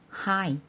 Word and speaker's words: high: 할게요 첫 번째 단어입니다 하이 흐 아이 하이 형용사고 높은이라는 뜻이네요 여기서 gh는 묵음이어서 소리가 나지 않고 앞에 hi만 소리가 나죠 하이 하이 높은 밑에 그럼